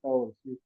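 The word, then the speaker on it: Cahors: Entonces, claro, la pronunciación francesa Cor. Caors, Cor.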